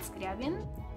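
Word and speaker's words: Скрябін: And the last album, I would say how we pronounce it in Ukrainian. The band is called Skryabin, and the album is called Cascade, which translates as Fairy Tales.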